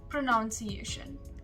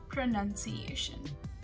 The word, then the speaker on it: pronunciation: of us tend to get confused and we say pronunciation well that's wrong it is pronunciation some food items coming to the third word